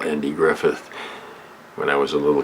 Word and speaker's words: Griffith: shoot the the antique griffin show and auntie griffin i i used to call andy griffith when i was a little kid i used